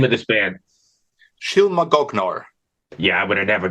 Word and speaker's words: Shylmagoghnar: Shylmagoghnar. Yeah, I would have never got that. Thank you. It's So, go ahead. Shylmagoghnar.